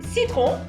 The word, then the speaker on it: citron: Citron. Citron. Citron, lemon. Sel. And when you say your R's in French, you got citron.